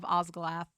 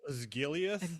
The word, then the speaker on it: Osgiliath: We're getting the Battle of Osgalath and all of the accompanying items. The I terrain believe set it's and pronounced Osgiliath.